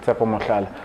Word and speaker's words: Tshepo Mohlala: Tshepo Mohlala.